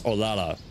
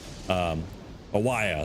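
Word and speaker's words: Olalla: Oh, yes, Olala. I think that's how you say it, but O-L-A-L-L-A. Owaya, that's what it is.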